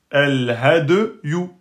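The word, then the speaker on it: الهدي: Elle porte une damma, donc ça ne peut pas être une voyelle longue et qu'elle se prononce. Ça, c'est you. El-hadyu.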